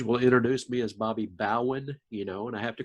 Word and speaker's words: Bowen: It's Bowen. I get called Bobby Bowden a lot of times. No, that's funny. Most pastors will introduce me as Bobby Bowen, and I have to correct them.